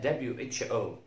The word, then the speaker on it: who: قلنا WH ال H لا تنطق، لكن WHO ال H تنطق وال W لا تنطق.